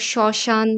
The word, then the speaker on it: শ্মশান: আবার শ্মশান বা শ্মশ্রু, এখানে ম ফলা আছে শব্দের শুরুতে এবং সেখানে ম ফলার উচ্চারণ একেবারেই হচ্ছে না এবং কোনো দ্বিত্ব উচ্চারণও হচ্ছে না।